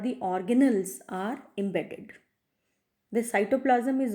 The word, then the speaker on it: organelles: capable of performing functions we call them organelle ease or you can say pronounce it as organelles cell organelles okay and